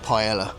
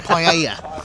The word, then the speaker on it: paella: How about a massive paella? Or paella, we should say. Yes. Got to get the pronunciation right.